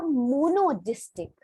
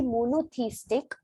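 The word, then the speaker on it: monotheistic: उनका ये जो चीज था मोनोदिस्टिक, ठीक है, मोनोदिस्टिक क्या होता है मैं बताती हूँ। मोनो मोनोथीस्टिक का मतलब होता है, प्रोनाउंसिएशन होती है इसकी मोनोथीस्टिक।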